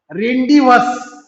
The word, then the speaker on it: rendezvous: वी had hardly reach the 3rd pillar which was अवर रेंडिवस. रेंडिवसचं spelling पहा, RENDEZVOUS. यामध्ये Z silent आहे मुलांना, झेडचा उच्चार करायचा नाही, म्हणून उच्चार काय करायचा, रेंडिवस.